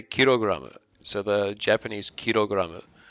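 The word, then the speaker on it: キログラム: kilogram you'd still say kirograma so the japanese kirograma which is just the japanese pronunciation of kilogram but they actually made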